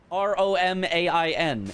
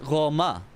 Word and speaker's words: Romain: Anyway, Roma is how you say R-O-M-A-I-N. It's not Romaine, it's Roma. I have been told.